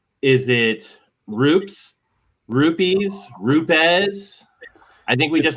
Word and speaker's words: Rupes: We start every training with these are the ways not to say it, and then there's the proper way, but it's Rupes. Rupes. So that's exactly how I say it.